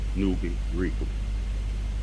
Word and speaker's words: Nuwaupu: And for the benefit of the reading public, the name Nuwaupu is pronounced Nuwaupu.